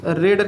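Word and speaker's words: read: a book हो जाएगा रीड का सेकंड फॉर्म रेड लिखा जाएगा लिखा स्पेलिंग वही पढ़ा जाता है रेड और फ्यूचर इंफिनिट में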